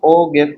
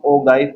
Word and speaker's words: ogive: ओ गिव के अंदर, या इसे हम ओ गाइफ भी पढ़ते हैं, मुख्तलिफ प्रोनाउंसिएशन है, बात है ग्राफ।